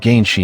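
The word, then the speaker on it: 原始: In the digital world Shambhala in the primeval part, which is pronounced Yuanshi in Chinese and Ganshi in Japanese.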